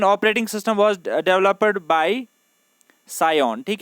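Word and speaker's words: Psion: Symbian operating system was developed by सायोन। ठीक है, यहाँ पे पी साइलेंट रहता है। सायोन सॉफ्टवेयर ने इसको क्या किया था, डेवलप किया था।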